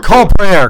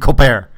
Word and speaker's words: Colbert: and he went mainstream he'd never pronounce his T in his name he's got like the spore rapport he had his like Oh Colbert Colbert right he talked to